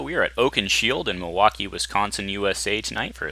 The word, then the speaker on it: Milwaukee: espied it is actually it's pronounced Milwaukee which is Algonquin for the good land dice commander wishes